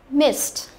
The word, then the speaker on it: missed: Missed, và nhớ là ed ở đây chúng ta sẽ đọc nó là âm t, nhớ chưa?